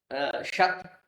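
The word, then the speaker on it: ṣad: Now, why does sat becomes shat? Uh it becomes shat because it is following the letter ni. Whenever the word the sa is followed by it is following ni then the sa becomes sha. There is a specific Paninian grammar rule in which the sat becomes shat.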